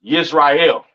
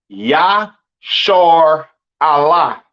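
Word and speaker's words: ישראל: what I'm saying and Israel is not pronounced yashar is not pronounced Israel in the Hebrew that is not how you pronounce Israel Israel is pronounced yah Allah all right yashar Allah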